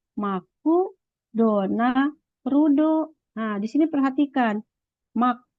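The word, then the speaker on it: マクドナルド: gitu kan MC apa orang Jepang membacanya Yudi maku dona rudo nah di sini perhatikan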